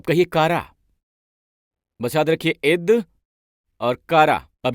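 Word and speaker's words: עֵת: अब यहां पर ये शब्द समय इब्री में है ईद। कहिए ईद। आप ऐसे उच्चारण करते हैं इसे, समय का उच्चारण है ईद।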